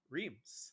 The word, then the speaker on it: Rheims: They've already had their baptism by fire, courtesy of by what I now know, to be pronounced as Rheims.